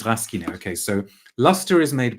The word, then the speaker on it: Rasquinet: Do we pronounce the S or not? Rasquinet. Oh, so it's Rasquinet.